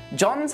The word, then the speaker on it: John: John's a charismatic and honest architect. By the way, the H in John is silent as well.